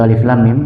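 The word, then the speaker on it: الم: Kalau kita berhenti atau wakaf di ayat pertama, itu dibaca seperti biasa, Alif Lam Mim, seperti biasa. Tetapi kalau diwasal, disambung, maka kita boleh membacanya dengan dua cara. Sudah ada yang pernah dapat? Sudah ada yang tahu? Belum. Cara pertama, mimnya dipanjangkan 6 harokat, kemudian disambung dengan lafzul jalalah, dengan lafaz Allah.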